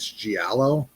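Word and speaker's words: giallo: The uh I believe the ter I'm not always positive I'm pronouncing it correctly, but I believe the term is gialo.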